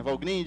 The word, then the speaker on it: Valgrind: Tipo um perf, o Valgrind, que se pronuncia, né? Valgrind, esse gprof aqui.